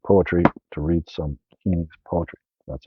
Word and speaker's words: Heaney's: Now you have no excuse if you like poetry to read some Heaney's poetry. That's how you pronounce his name.